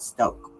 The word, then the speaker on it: Stauch: I'm trying to I've been pronouncing it like that because that's what the news are pronouncing it, but I noticed the other day when I was listening to the father's statement, he pronounces it Stoke.